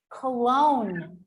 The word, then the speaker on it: cologne: Or if I have the word, for example, cologne, you see?